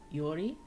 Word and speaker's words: Georg: of the name George it has a strange pronunciation in Swedish it's like Yori is an y Yori